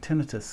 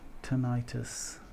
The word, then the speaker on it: tinnitus: I call it the UK pronunciation, tinnitus, huh? Yeah, tinnitus.